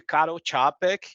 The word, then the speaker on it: Karol Čapek: Aí, isso aqui de 1923 eu tenho que dizer para vocês, leiam o livro de Karol Čapek, que é a pronúncia desse cara aí, chamado A Fábrica de Robôs.